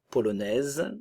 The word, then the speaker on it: polonaise: néerlandaise la Pologne polonais ok le son e polonaise le E ne se prononce pas le S termin la prononciation la